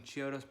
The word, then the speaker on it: Chiodo: And I think that at 2 a.m., some Chiodos brothers, it's Chiodos, right? I always mispronounce it every single time.